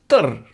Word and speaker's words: d'r: And in everyday speech, unstressed haar is pronounced der.